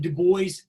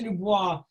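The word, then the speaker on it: Du Bois: Dubois, and I realize for some of you may say, isn't it Dubois? It's actually pronounced both ways. He never actually says, and so sometimes I go back and forth myself. For Dr. Dubois, there's some key things to recognize about his viewpoint.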